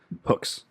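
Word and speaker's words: Huks: Oh, you're pronouncing Hooks though. Hooks.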